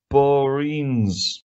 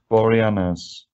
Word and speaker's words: Boreanaz: be right okay um david borines sorry same say his name boreanaz realess angel from buffy uh he's broke his